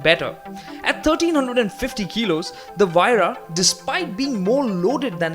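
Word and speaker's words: Huayra: been told by the company people that it's pronounced VRA wira so that's how you should remember it uh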